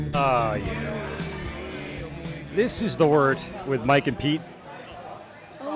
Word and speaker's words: Wort: All right, so if you go on YouTube and you type in The Wort, W-O-R-T, Mike and Pete, pronounced Wort, spelled Wort, you could find our channel there and all our past shows and everything.